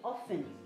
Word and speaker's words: often: there's no tea there often the tea is silent that's uncle celeste has said so we are learning so much on kids go the moment okay so norah whenever you see off say often don't say often okay all right so